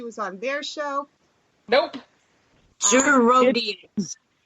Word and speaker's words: Gerodias: Gerodias. It's pronounced like it looks. It's pronounced like it looks. I don't buy it. Yeah. Gerodias. There you go. Gerodias.